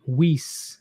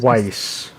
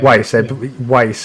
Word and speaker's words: Weiss: documents shared by journalists Bari Wiese if I said it right as the right Wise Wise okay Weiss is in German for white to fire okay I